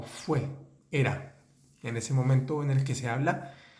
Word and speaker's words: moment: el verbo era o fue era en ese momento en el que se habla fue o era un momento tranquilo aible cesible fijémonos que la palabra